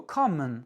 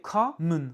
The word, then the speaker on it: common: Autre exemple, ce mot common. Com est accentué, common.